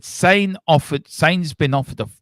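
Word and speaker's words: Sané: It said sane offered Sain's been offered a rumoredly been offered a four years.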